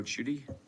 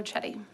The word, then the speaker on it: Chetty: but it's all right can you tell me how to pronounce it it's Chetty oh okay de